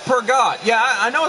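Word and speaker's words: Peugeot: It's pronounced Pergot.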